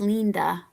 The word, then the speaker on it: linda: Yes, and it's pronounced Linda, right?